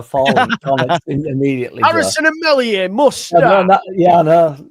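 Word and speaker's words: Meslier: Harrison and Melier must know. Yeah, I know. Without even saying all, I've been clipped up into that now. So, it it's re I found the Messier silent s thing unbelievably interesting from even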